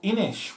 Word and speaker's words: Inis: Of Inish, which I think is the correct pronunciation.